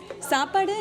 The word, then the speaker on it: Saapaaduu: So 3 syllables seems to be very easy for people to pronounce.